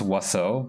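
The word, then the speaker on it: oiseau: me off that apparently to write bird in french it's pronounced waso but it's for but it's written like why so like that that has every vowel in the alphabet and it's still it's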